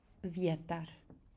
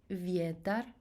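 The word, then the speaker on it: vjetar: so let's start with vietar easy one j e applies that e needs to be short so it's not viedar it's vieta very short english e creation a okay so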